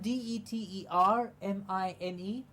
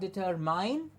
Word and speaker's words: determine: in the same way then we have de ter mi ne it has not deterred mine but the term in determine it generally happens that when we have a word that has mi ne at the end it becomes a min and like we've just